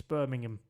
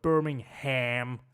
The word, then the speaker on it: Birmingham: know there's a because americans can't pronounce that correctly it's birmingham but they go birmingham like you know it's a ham it's not it's ham birmingham oh that's talladega that's where